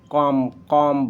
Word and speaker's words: comb: अब किसी भी लेटर में एम आया है और एम के बाद बी आया है तो बी को प्रोनाउंसिएशन में साइलेंट माना जाता है। जैसे कॉम्ब होता है, वैसे नॉर्मली जब जानकारी